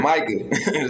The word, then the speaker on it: Micah: if Mika breaks the rookie sack record, Micah.